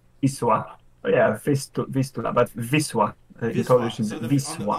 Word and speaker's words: Wisła: from Poland on the I'm going to mispronounce this, and I'm not going to say it right in the Polish way. The Wisla River, the Vistula in English. Wisła.